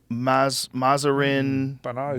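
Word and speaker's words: Mahzarin Banaji: Mazarin Banaji.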